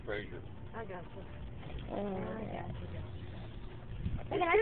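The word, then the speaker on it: Fraser: F-R-A-S-E-R, pronounced Frazier.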